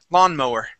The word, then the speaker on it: lawnmower: Lawnmower. Lawnmower. Lawnmower. Good. One more time. lawn. Instead of ma ma, it is mow.